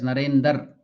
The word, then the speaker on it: Narendra: Then Sri Ramakrishna is telling giving the example of Narendra. Why? Narendra. So Ramakrishna used to pronounce the name of Narendra as Narendar.